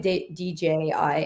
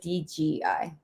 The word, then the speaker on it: DJI: and then the DJI DJI in my head I always say it like DGI DJI they should just change their name DJI DGI microphone's so